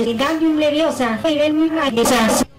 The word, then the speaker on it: Wingardium Leviosa: Wingardium Leviosa. No. No, fermo così, proprio bye bye occhi. Hai pronunciato male, io male si dice. Wingardium Leviosa, fai vermi mai di sasso.